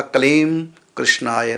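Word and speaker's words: क्लीं कृष्णाय: तो यदि आप आराम से बोलेंगे, कलीम पहले बोलेंगे, उसके बाद थोड़ा सा कोमा दे करके फिर कृष्ण बोलेंगे, कृष्णाय, तो होगा कलीम कृष्णाय नमः।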